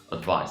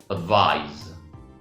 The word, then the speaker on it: advice: Look at the stress pattern. Advice, advice, advice, advice, advice, advice. Now, the action of giving advice to somebody is advise, advise. The same stress pattern. Advise, advise, advise, advise, advise, advise. You give somebody advice, advice, advice, advice, advice, advice. But the action is called advise.